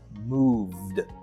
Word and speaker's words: moved: So, "move" would be pronounced in the past tense as "movd." "Movd." "Movd." That's correct!